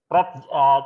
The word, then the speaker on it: read: Kata kerja ketiga dari read apa? Read, tulisannya sama tapi membacanya read ya.